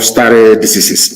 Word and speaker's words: stare decisis: It is called stare decisis. It means, I will spell it for you.